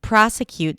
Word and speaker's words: prosecute: And prosecute starts with a P r and then the a and father pra primary stress as I said. Then we have a schwa s proa and then cute cute the t I released it here but it could be a healthy prosecute where you just hear